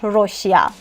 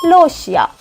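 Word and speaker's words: 러시아: should pronounce it L for example leosia Russia we don't pronounce Rossia we say Lossia so you can pronounce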